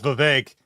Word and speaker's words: Vivek: It's Vivek.